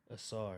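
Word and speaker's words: Ausar: Assar.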